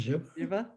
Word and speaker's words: zhiva: It's a little hard to pronounce, but I kind of like it. There are a lot of extraneous H's in words all over the place, so "zhiva," I like that.